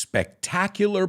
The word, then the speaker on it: spectacular: To some of the most spectacular places on the planet. And let's pronounce the word spectacular, because I know in Spanish it's espectacular, but we say spectacular.